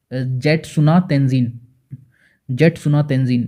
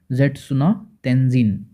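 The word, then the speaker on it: Jetsunma Tenzin: मिला है तेंजिन को, जेटसुना तेंजिन, इसको इस तरीके से ही पढ़ेंगे, प्रोनाउंस करेंगे, ठीक है, जेटसुना तेंजिन।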